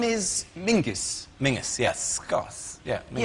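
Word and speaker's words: Menzies: his name is very odd his name is Mingus Mingus yes SC yeah Ming yeah but it's pronounced it's it's spelled m n z i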